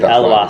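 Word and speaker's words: Eloi Pelissier: Elwar slammed it down.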